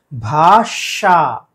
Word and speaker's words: भाषा: भाषा ये सही उच्चारण है।